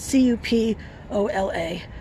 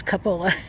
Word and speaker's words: cupola: That square box up there is called a cupola, spelled C-U-P-O-L-A. Don't fall into my early trap of thinking it was cupola. No, it's pronounced cupola.